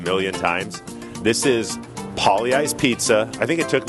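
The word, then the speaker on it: Pagliai's: Okay, what's the worst pronunciation of Pollyeyes you've ever heard? Because Pollyeyes is spelled P-A-G-L-I-A-I-S. Right. What's the most butchered pronunciation you've ever heard? I would say Paglieyes.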